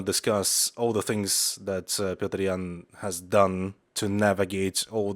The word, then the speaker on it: Petr Yan: spoken english much easier but obviously the correct pronunciation is petrian and you're gonna hear it a bunch as